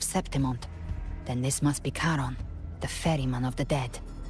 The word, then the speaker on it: Charon: Oh, Karen, that's how you pronounce it. We have a Karen. That sounds like K. Oh, no. That sounds like a Karen.